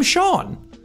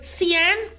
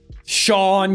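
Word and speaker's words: Seán: became and then in irish and gaelic became sean all right these are the phonies because you guys couldn't understand that the father goes over the a and it's supposed to be pronounced shawn's you're like god i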